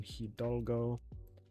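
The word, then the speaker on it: Hidalgo: You don't really pronounce the h the h sound in hidgo.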